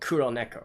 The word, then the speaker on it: Kuroneko: in 96 obviously her the way that you should pronounce her name is kuro kuroneko right ku nai loku it's kind of like a play on words of black cat kirill neko and um anyways i